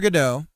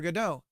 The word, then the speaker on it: Godot: Waiting for Godot.